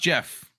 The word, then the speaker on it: Geoff: happened that's rough dude geoff is pronounced jeff i know it doesn't make sense no it doesn't and because it doesn't make sense i'm not gonna call them jeff i go hey geoff uh it's pronounced jeff it's not spelled jeff well it but it's pronounced to jeff so like if i